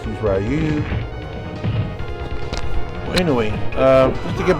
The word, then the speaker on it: Ryu: Ryu. That's how you pronounce it, Japanese.